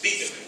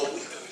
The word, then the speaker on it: Wittenberg: De paso, la W no se pronuncia como W, sino como W. Así que es Wittenberg, no Wittenberg.